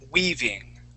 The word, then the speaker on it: weaving: Okay, where the EA will make what's called a long E sound. So when we pronounce that, we say weave, weaving.